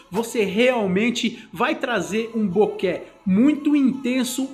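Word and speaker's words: bokeh: que significa borrão e tem a pronúncia correta boqué beleza pessoal bom esse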